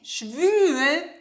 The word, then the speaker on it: schwül: So for example, the difference between ü and u. It's important because schwul means homosexual, schwul. And schwül means humid.